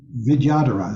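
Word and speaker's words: vidyadhara: called it's a video dhara Vidya holder vidyadara is the way it's pronounced Vidya Dara d-h-a-r-a and the Tibetan for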